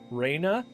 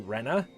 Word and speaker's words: Rena: some characters names especially Raina which I think by this point is supposed to be Rena yeah by the by the